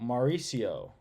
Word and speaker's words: Mauricio: delayed like a lot the C is like an S so Mauricio Mauricio oh yeah yeah